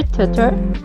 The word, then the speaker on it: tutor: Why with an R? Okay, it's a T, but it's pronounced R, and it's really bothersome, even though I know it.